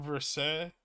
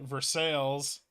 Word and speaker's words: Versailles: there's a town named Versailles France has one too although in Kentucky they pronounce it Versailles I haven't lived in